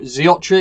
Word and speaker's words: Xiotri: each of the assets so zeotra is how it is pronounced according to owl and um the rest